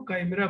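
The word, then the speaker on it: chimera: मिलाकर बनने वाले जीव को कामरा बोलते हैं स्पेलिंग चमरा होती है सी एच आई एमई आर कामरा उसको पढ़ते हैं तो वो जो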